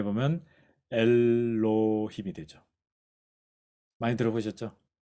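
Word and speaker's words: אלהים: 자, 발음해 보면 엘로힘이 되죠.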